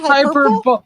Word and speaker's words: hyperbole: Hyperbole?